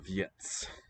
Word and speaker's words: věc: And note that the letter C is a ts sound that we have in pizza. Ts. Or in eats. A ts that are in close contact. With no vowel sound intervening.